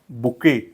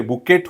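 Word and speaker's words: bouquet: word is अ बुके या ठिकाणी पण टी चा उच्चार होत नाही तर याचा करेक्ट उच्चार हा बुके बुके okay and what is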